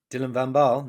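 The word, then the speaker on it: Dylan van Baarle: good with the pronunciation have i butchered his name dylan vambal no no you nailed that um perfect it's uh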